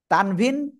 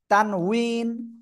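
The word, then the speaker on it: تنوين: আছে ওকে যাই হোক তানভীন তানউইন উচ্চারণটা হবে তানউইন ঠিক আছে আশা করি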